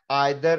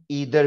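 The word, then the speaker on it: either: एनी, सम, each, every, आइदर, और इसका pronunciation ईदर भी है। ज्यादातर लोग ईदर कहते हैं, मुझे आइदर कहना अच्छा लगता है, ये दोनों ही प्रोनाउंसिएशन ठीक है।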